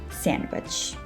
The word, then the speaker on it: sandwich: to all words and there are some other common words where it is not pronounced this d sound for example handsome and sandwich you don't pronounce the d in those two words so it is best